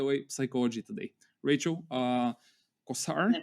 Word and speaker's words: Cossar: oh by the way psychology today rachel uh kosar right that's how we pronounce it rachel kosar welcome to the podcast happy to have you